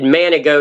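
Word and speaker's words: Manigault: nicknamed the goat because his last name manic goat but g is how it's spelled but it's frenched in man managot and the joke is guy asked him his name he said he said Manny goat and he thought he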